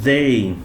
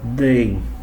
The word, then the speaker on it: they: Que é como they. Esse they, ele é diferente daquele EY, que o som é I, que não fala the, fala they. Nesse caso é they.